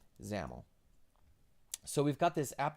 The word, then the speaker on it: XAML: so hard is because Microsoft has made it very clear for about 10 years now that XAML is pronounced zamel so just so you're